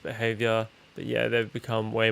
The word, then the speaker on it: BHVR: Yeah, BHVR is pronounced behavior.